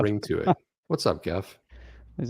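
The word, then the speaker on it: Geoff: chef jeff see it's jeff with the g the pronunciation it was going to be g-e-o-f-f g-e-o-f yeah jeff that's the other way to spell jeff and it's not pronounced gaff although most people would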